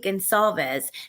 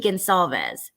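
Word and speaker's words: Goncalves: person who killed Kaylee Gonsalves, that's how you say that. The C is pronounced like an S. Kaylee Gonsalves. That's what that's the conclusion I've came to. Kaylee Gonsalves, Ethan Chapin, Xana Kernodle,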